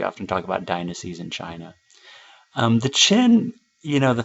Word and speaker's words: Qin: talk about dynasties in China the chin you know the thing that's interesting about them was started by this guy his name is in red chin spelled with q but it's pronounced Qin Shi Huangdi he was